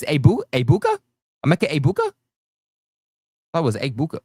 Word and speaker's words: Egbuka: You don't pronounce the G. It's not Egbuka. It's Egbuka.